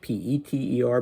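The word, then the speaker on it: Piter: So, by the way, Dmitri calls him Peter, and he spells it, well, if a direct transliteration would be P-I-T-E-R instead of the English P-E-T-E-R, but pronounced the same, Peter.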